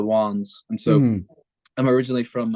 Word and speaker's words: Wans: where so the name how you pronounce the band name is the wands and so I'm originally